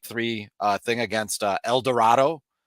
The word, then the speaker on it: El Dorado: uh thing against uh El Dorado which I have verified I that uh that is how it is pronounced um but since a